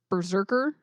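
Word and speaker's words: BRZRKR: in a Thing Called so this is how it's spelled all caps b-r-z-r-k-r Berserker okay um the comic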